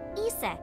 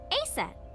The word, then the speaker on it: Isis: horace's mom is named isis but in ancient egyptian it's pronounced closer to isa or asa hmm how do i